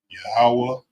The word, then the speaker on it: Yahweh: Yahweh Shai.